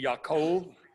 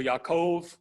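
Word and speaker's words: יעקב: Hebrew pronunciation would be Yaakov the B has a V sound at the end so Yaakov his name was changed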